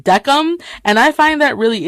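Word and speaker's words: Decim: name right because I used to just say desam but his name is Ozzie pronounced duck um and I find that really interesting I see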